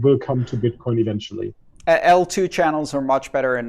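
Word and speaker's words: eltoo: that this upgrade will come to bitcoin eventually l2 channels are much better in a number of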